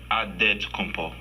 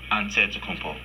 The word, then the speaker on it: Antetokounmpo: In the Nigerian way, you gotta say with a D, so it's Antetokounmpo. But in the Greek way, you say with the NT, like Antetokounmpo.